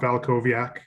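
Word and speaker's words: Walkowiak: my name is valkoviak um the w's are pronounced as v's in my last name it's that polish heritage that messes some people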